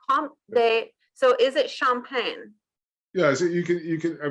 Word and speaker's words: Champagne: I mean, you could say that in the English way if you wanted. Just champagne. It's just. But if you, for me, I would say Comte de Champagne. But that's saying it with a French accent.